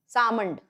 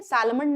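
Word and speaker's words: Salmond: अब sir John सालमंड सामन ठीक है सालमंड नहीं पढ़ते इसको सामन पढ़ते हैं एल जो है वो साइलेंट रहता है सर जॉन सामण जो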